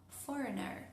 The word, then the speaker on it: foreigner: for o foreigner, si hablamos en inglés, foreigner. Entonces, fíjense que en este caso, fore viene de foreign, ¿sí? Entonces, la raíz de la palabra termina con gn, por ende, el la